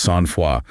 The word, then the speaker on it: Sainte-Foy: And for anyone wondering, it's pronounced Sainte-Foy.